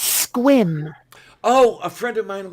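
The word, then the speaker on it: Sequim: looks like it's spelled sequiam right except it's pronounced squin oh a friend of mine lives there yeah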